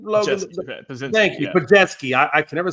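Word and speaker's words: Podziemski: Thank you, Pajetsky.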